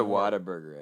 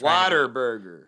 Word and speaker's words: Whataburger: yeah you know what i think it actually is pronounced what a burger but yeah because we're going to be like oh whataburger what a burger what a burger yeah yeah it's not whataburger that's people just water burger that's just people trying